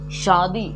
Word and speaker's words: शादी: जैसे मैंने कहा शादी, कई लोग इसको पढ़ते हैं शादी, जो कि गलत है। शादी दंत सा है भाई, इसको पढ़ना है शादी, शादी ना कि शादी, शादी, शादी ना कि शादी।